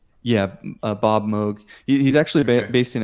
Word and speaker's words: Moog: is it pronounced Moog? Yeah, Bob Moog.